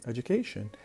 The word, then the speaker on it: education: But when we add ION to create the noun education, the stress will move from the beginning to the third syllable, to the syllable that comes before the end, the penultimate syllable, or what we call